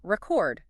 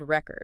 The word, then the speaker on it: record: If it's a noun like she broke the world record, then the stress is usually on the first syllable. Record emphasis on the result, the thing. Record. But if you're using it as a verb, meaning to save sound or video, I will record this lesson. The stress shifts to the second syllable. Record. Emphasis on the action.